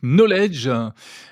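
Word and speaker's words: Nolej: Vous dirigez la startup Knowledge. Ça s'écrit N-O-L-E-J. On comprend qu'il y a un jeu de mots entre knowledge en anglais.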